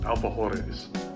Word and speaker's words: alfajores: So, I found a recipe for uh I believe it's pronounced alphahores.